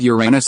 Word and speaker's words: Uranus: Coincidentally, the pronunciation of Uranus is the same as your anus, so Ron's "Can I have a look at Uranus?"